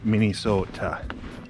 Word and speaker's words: Minnesota: good old bwca bonji waters canoe area oh mini sota if you want to know if somebody's from